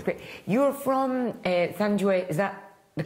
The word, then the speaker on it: Thenjiwe: You're from Thenjiwe, is that the correct pronunciation? Thenjiwe.